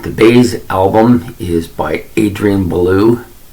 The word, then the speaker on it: Belew: Now, for those of you who have heard of Adrian Belew, and I had, sorry, it's not Belew, it's Belew. Sorry, just a bad pronunciation on my part.